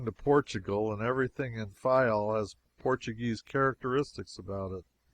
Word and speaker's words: Fayal: People there pronounce it Fayal, and put the accent on the first syllable.